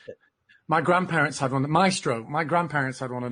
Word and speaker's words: Maestro: How do you pronounce it? My grandparents had one. Maestro.